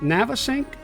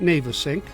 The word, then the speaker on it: Navesink: Well, some people pronounce it Navesink, and some people pronounce it Navesink. It is the Navesink River, which is technically a tidal estuary of the Shrewsbury River.